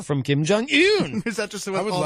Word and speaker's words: Kim Jong-un: I'm a stickler for pronouncing things correctly. Yes, it's Kim Jong-un.